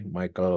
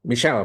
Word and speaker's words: Michel: nanti dialami eh dari Michael fuko ya Eh Michel bukan Michael Michel ini orang Prancis soalnya Michel Kalau derida itu